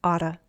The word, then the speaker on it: ought to: Notice the pronunciation with ought to often becomes oughta.